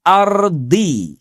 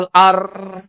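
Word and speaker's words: الأرض: Kalau enggak ar bacanya ya jadi ard. Ada juga yang marah jadi hilang huruf dnya itu ya. Jadinya wal ar. Bahkan ada yang lebih parah lagi jadi wal or.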